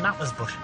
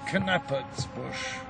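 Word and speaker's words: Knappertsbusch: by the name of nathan's bush thou art a man of taste keep it up incidentally we pronounce it cannabis bush write it i'll try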